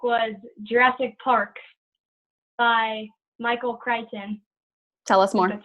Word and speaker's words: Crichton: My favorite book was Jurassic Park by Michael Crichton.